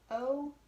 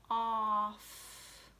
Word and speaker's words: of: But really it's written O-F, of. If we were going to pronounce this phonetically, or the way the letters sound, it should say off. But we know that's not the word off. It's the word of, okay?